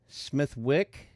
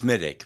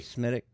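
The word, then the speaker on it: Smithwick's: Smithwick? It's pronounced Smittick, but that's okay. Smittick.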